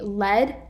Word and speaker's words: lead: store so lead here led is the past tense verb of lead meaning opposite of follow take to take charge so that's why we say lead pronounced the same way just with an a meaning the heavy metal so the size of